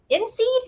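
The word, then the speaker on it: INSEAD: who's a professor of inseed is that how you say that Nathan yeah so outside of the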